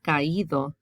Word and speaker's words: caído: Caer becomes caído. Otherwise, it'd be caído, right? You have to put the accent there to keep the original sound.